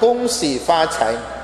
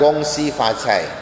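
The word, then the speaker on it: Gong Xi Fa Cai: Nah, jangan dibaca Gong Si Fa Cai. Bukan begitu cara membacanya. Meskipun tulisannya G-O-N-G, bacanya adalah Kung, bukan Gong.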